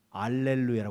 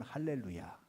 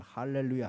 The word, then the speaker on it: 할렐루야: 통하니까 상단은 없는 데 이어 메 할렐루야 하는 것이 원음에 가깝습니다 괴상 거다 알렐루야 뭐